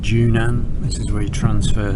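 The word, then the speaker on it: Zhunan: So this place is called Junan. This is where you transfer to the if you want to take the coastal trainer. It's spelled with a zed, but pronounced J.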